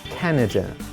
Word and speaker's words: Canada: Canada. We stress the first syllable here.